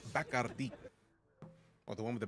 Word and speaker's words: Bacardi: When we went to the Bacardi distillery in Puerto Rico, when we were told that it's properly pronounced Bacardi, or the one with the bat. Like this, it's been Bacardi my whole life, so tough to break the habit.